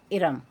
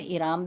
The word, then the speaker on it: Iram: अब है आप इसे इराम भी कह सकते हैं। आप कैसेट में देखिएगा कि उन्होंने क्या प्रोनाउंस किया है, मेरे ख्याल से तो इसे हमें इराम कहना चाहिए, इरम नहीं कहना चाहिए, बिकॉज इरम ERUM कॉमनली लिखा जाता है।